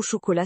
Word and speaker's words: chocolat: un son nasal et le che de chocolat qui n'est pas comme en anglais. Tout à fait. En anglais, on dirait comme dans chair. Mais en français, c'est plus doux comme dans sheep.